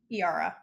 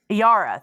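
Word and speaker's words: Eira: Iara. Iara, thank you.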